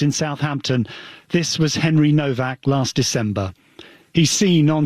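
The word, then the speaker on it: Nowak: It's N O W A K, but it's pronounced Novak.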